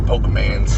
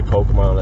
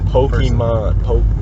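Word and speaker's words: Pokémon: I've never met someone under 35 who can pronounce this Pokemans when they have the word in front of them.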